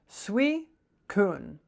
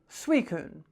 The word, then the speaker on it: Suicune: How do you pronounce it? Suicune. Suicune.